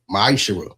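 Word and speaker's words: מעשר: You find this in the book of numbers 18 21 the book of Malachi 3 8-10 means 10th in Hebrew and it's pronounced misher 10% of every penny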